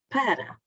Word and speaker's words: para: No entanto, há algumas exceções que gostaria de vos deixar em que o A é tónico, mas a pronúncia é A. Por exemplo, para. O A está em posição tónica, mas não se diz para, exceto no verbo parar,